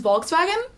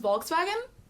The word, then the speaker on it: Volkswagen: Oh, and your friend's Volkswagen.